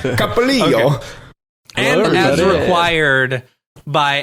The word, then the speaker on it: Copolillo: Copolillo, and as required You did not say his name correctly. Copolillo? Thank you. Sorry. Copolillo. Copolillo. It's the Italian, not the Spanish pronunciation. Capolillo.